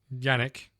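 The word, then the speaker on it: Jannick: Yannick. Spelled with a J.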